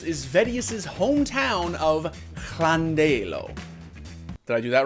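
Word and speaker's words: Llandeilo: of those places is vedius's home town of clandello did i do that right clandello today i'm in chandelor in lovely camardinshire nailed it anyway vedius was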